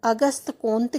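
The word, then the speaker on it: Auguste Comte: फ्रांसीसी भाषा में इनके नाम का उच्चारण अगस्त कोंत किया जाता है।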